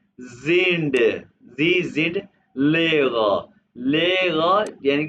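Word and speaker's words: Lehrer: है आप टीचर है क्या जी जिंड जीड लेगा लेगा यानी कि टीचर इसको इसको आपने ले र कहना जम वाले प्रोनाउंस करने का तरीका है लेगा लेगा जी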